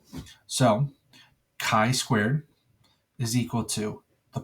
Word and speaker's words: chi: going to look like an italicized X we pronounce that as Chi okay now as soon as I drag it